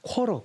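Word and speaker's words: quarter: 쿼터 쿼터라고 써 있네요 미국은 단어 중간에 t 발음이 나오면 미국식은 잘 바로 티바르면 잘 안 합니다 그러니까 우리는 쿼터라고 배웁니다 영국식 맞아요 그대로 한다면 쿼터 근데 미국식으로 하면 요새는 t 발음이 잘 안 하니까 코로 코로 이래버립니다 자 쿼터 뜻은요 4분의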